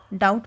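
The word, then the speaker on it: doubt: डब्लू आपको silent मिलेगा डाउट में बी आपको साइलेंट मिलेगा ऑफ में टी आपको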